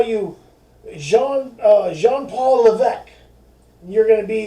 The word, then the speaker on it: Levesque: He says, your last name is Levesque or something, right? And he said, well, it's Levesque.